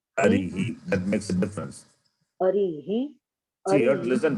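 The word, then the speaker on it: अरिः: So therefore you have to say, pronounce properly. Harihi, Hari, Harihi. That makes a difference. Arihi, See, you have to listen, Parul, you are not listening.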